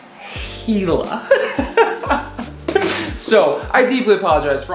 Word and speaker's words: Gila: of armchair anglers quite perturbed gila it's not gila it's not gila it's not gila jula whatever it's pronounced hela so i deeply apologize for all the times